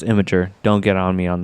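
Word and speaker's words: Imgur: And it's pronounced Imager.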